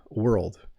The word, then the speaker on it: world: There's a lot of movement in my mouth at the end of world. World. Because you're making the RLD. It's like your tongue. Your tongue's like a wave.